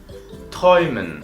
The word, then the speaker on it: träumen: Träumen se escribe con A umlaut y U. Y ahí tenemos la fonética träumen.